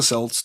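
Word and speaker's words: Celts: Uh, so the Kelts or the Selts, depending on how you hear it in your head or know of it and a big happy Halloween to you too, Heidi.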